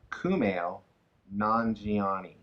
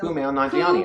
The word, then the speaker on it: Kumail Nanjiani: Kumail Nanjiani. He says it's pronounced exactly how it's spelled. So Kumail Nanjiani. Kumail Nanjiani. Yeah. Kumail Nanjiani.